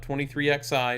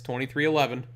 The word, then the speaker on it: 23XI: And 2311, that's how you pronounce it, not 23XI, it's 2311.